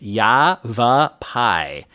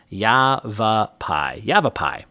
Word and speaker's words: Yavapai: And according to the screenshot Stacy sent me, it is Yavapai. Yavapai.